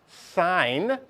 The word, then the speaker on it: sine: a memory tool okay the sign this is pronounced sign is equal to opposite over hypotenuse have you seen this before sinin not not sin like sin Catholic no no yeah this is